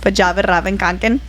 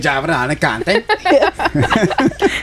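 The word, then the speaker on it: Fjällräven Kånken: That it's pronounced Vajavaravankanken with that accent. Vajavaravankanken. Yes, you nailed it.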